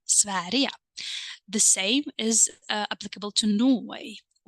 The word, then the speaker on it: Sverige: I hope that you remember this, that Sweden is a little bit exceptional because of the pronunciation, right? The G turns into the sound Y. Can you tell me the reason why? That's right, because we have a soft vowel E, right?